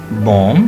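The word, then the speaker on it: bomb: लाए इस तरह के बोम बी ओ एम बी बोम बी उड़ा दे बोम बोम ठीक है जी बी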